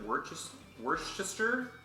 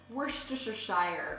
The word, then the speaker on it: Worcestershire: Do you pronounce it Worcestershire? I say Worcestershire if I'm going to actually say it, but a lot of times I like to just sort of meld it together and say Worcestershire sauce.